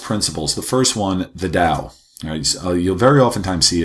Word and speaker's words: Dao: the first one the Dao you'll very often times he had spelled with a T but it's pronounced more of the D so it's using or